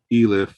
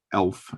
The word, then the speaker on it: elif: going to use a keyword called elif or elf as some people will pronounce it um it's